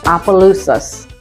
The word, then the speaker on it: Opelousas: It's spelled, and it is pronounced Opelousas.